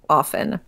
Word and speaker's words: often: I switched to saying often because I was criticized by somebody in high school because I said often and he pointed out to me that the word soften does not have the T pronounced and I right there